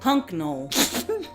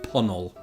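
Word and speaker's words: Puncknowle: Hunknall. No. I hope there's somebody from this village watching. It's actually pronounced Punnell. You don't need most of the letters in that, do you?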